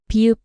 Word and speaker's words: 비읍: And be sound like in bat. At the beginning of a word it can be closer to an unaspirated soft P sound, while between vowels it often sounds like B.